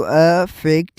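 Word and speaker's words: effect: अब अब प्रोनाउंसिएशन का फर्क देखें तो A double F ई सी टी का प्रोनाउंसिएशन होगा जो अ फैक्ट है। अ फैक्ट उर्दू साउंड से देखा जाए तो स्टार्टिंग में अलिफ को ज़बर लग रही है।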